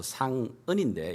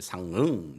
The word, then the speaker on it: 상은: 왜냐하면 제 이름을 영어로 이렇게 사람들이 발음하기가 너무 이제 어려워서 상은인데 이 발음을 똑바로 하는 사람을 만나질 못했어요. 상응 이러면서 이렇게 이 받침이 안 되니까 이들을 위해서,